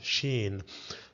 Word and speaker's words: ش: In Arabic, as a letter, it's pronounced or read as sheen. In English, it's equivalent to the sound sh, as in the word here, shine, sh.